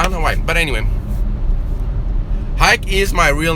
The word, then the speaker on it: Hike: and anywhere around, and everyone in the whole wide world pronounces it Hike, like take a hike.